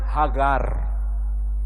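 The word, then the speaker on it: הגר: Maka Hajar kalau bahasa Arabnya mereka menyebutnya Hagar, huruf G, gimel.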